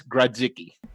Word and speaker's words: Grodzicki: And Steve, and I did talk with Steve, it is Grodzicki. Yeah, so when you look at the name, it seems pretty simple to pronounce.